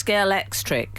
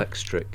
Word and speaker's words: Scalextric: with a K. So it's Scalextric. Yes. Oh, I'm so proud of myself. Scalextric.